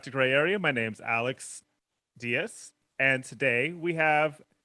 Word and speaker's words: ALX: I tell them Alex. I feel like it's easier, even though it's spelled ALX. Oh, that makes sense. Yeah. So, but it's Alex.